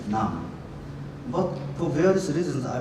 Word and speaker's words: Nam: As you may know, my surname should be pronounced as Nam.